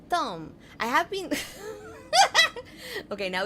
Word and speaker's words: Thom: H is silent? Oh, it's Thom.